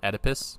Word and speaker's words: Oedipus: I Oedipus is actually the word.